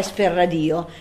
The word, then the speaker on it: EsperRadio: è per radio Ecco vi chiederete perché pronunciamo E per radio e non esperadio ad esempio e perché Perché Esper radio è l'unione di esperanto e radio cioè radio in esperanto tutte le parole sono delle parole Piane perché l'accento consiglio sempre sulla penultima vocale e per cui lo pronunciamo per forza è speradio quindi questo è il